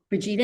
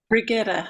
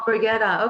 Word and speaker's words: Brigitta: Brigida, is that how did I say her name right? Brigitta. Oh, Brigitta. Okay, there you go.